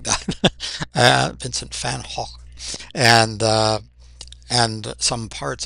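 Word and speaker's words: Van Gogh: Well, we say Vincent Van Go. And I know that's not how you say his name properly. And I don't I cannot get the Dutch pronunciation of his name, but I've always loved uh Vincent Van Hawk Hulk, something like that.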